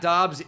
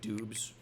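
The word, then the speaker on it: Doubs: visits in there yeah I like the Romeo dobs brother storyline that's why I'm pronouncing it dobs instead of like dobes Alabama has passed us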